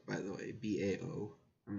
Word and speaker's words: Bao: in front of Incredibles - he's it's called bow by the way Bao I'm not sure if I'm pronouncing that correctly in it yes it is